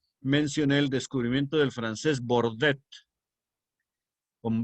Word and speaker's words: Bordet: Por ejemplo, yo creo que les mencioné el descubrimiento del francés Bordet, con B, Bordet, que fue el que descubrió